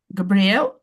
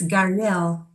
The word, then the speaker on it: Gabriel: Gabriel Garcia Marquez. Hello, Nick. He Hello. didn't pronounce the B. Maybe B. it's Gariel.